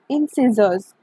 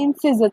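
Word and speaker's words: incisors: सबसे पहले इंसिजर्स, ठीक है, इंसिजर्स प्रोनाउंस करो मेरे साथ, इंसिजर्स, इंसिजर्स। आप इंसीजर भी बोल सकते हो, कि आप सीजर आप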